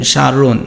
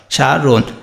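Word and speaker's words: স্মরণ: হয়, ওকার করতে হয়, সারোন। আর এই যে মূর্ধন্য থাকলে কি করতে হয়, দন্তন্য করতে হয়, আর হসন্ত তো দিতেই হবে, সারোন। যদি হসন্ত না দাও তাহলে উচ্চারণ হবে কি, সারোনো।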